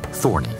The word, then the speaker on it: Thorne: He changed his name to Larry Thorne, although he preferred the hybrid pronunciation Thorny.